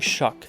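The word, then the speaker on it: Shough: Why did they draft Tyler Show? I'm not saying shuck. It's spelled show.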